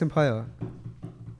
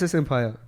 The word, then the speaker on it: Empire: Hey, that's S Empire. Yeah, unfortunately, people actually have called me S Empire. But it's not.